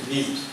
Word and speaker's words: memes: Its pronunciation is memes, not me. Not memes, right? The word is memes.